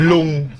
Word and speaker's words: ลุง: Lung.